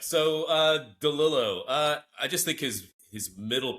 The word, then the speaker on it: DeLillo: Am I pronouncing that right? DeLillo? Mhm.